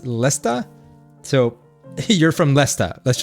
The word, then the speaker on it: Leicester: If Leicester is pronounced Lesta, so you're from Leicester.